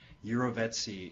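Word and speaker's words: jirovecii: So Pneumocystis carinii is now the classification for the form of pneumocystis that infects rats, and Pneumocystis iroveci, which is the pronunciation, iroveci is the species that infects humans.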